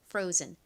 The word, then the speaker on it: frozen: F는 한국식으로는 피읍 소리 P라고 표기하지만 실제 발음은 거의 쌍비읍에 가까운 F 소리가 난다고 말씀드렸죠. 그리고 R은 리을 소리 나고요. O는 O 소리가 납니다. 끝에 ZEN은 Z 소리 나서 연결하면 frozen이 되죠. frozen.